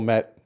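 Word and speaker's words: Kmet: see our cold commit I think that's how you say his name or a cold met with the K silent just like knife and night I don't know from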